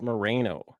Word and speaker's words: Moreno: Today, we have a special guest host, a country musician, Moreno. Is that how you say it? Correct? We got it. Yeah. All right. Yeah, Good. Marino is usually how I say it.